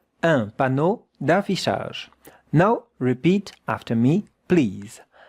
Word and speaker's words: un panneau d'affichage: Un panneau, 2 syllables, d'affichage, 3 syllables. That sound is the sound sh. And that sound is the sound j. It's quite different. Sh, j, sh, j. Un panneau d'affichage.